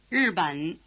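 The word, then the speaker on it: 日本: Listen for the first syllable, which is nothing but the prolonged R sound. 日本日本日本 Try repeating it.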